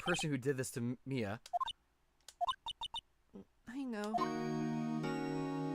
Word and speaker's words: Mia: who did this to Mia... I know. I always want to pronounce Mia's name as Maya. I knew a person who had their name spelled like that, but was pronounced Maya.